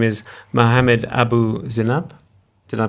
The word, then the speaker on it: Zeinab: His name is Mohammed Abu Zeinab. Did I pronounce it right? Zainab is preferred, Zainab.